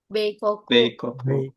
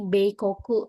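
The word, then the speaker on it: 米国: Ini dibacanya Beoku Bei koku. Iya. Ini kan kaji kuni. Kuni itu country kan bisa dibaca kok onyominya koku jadi bay koku ya.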